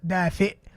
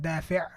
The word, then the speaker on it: دافئ: One person wrote دافع. Again, sound recognition, really important. دافئ, دافع. Look at the difference. دافئ, دافع. Okay, so this is دافع. It's not right. He said دافئ, which means warm.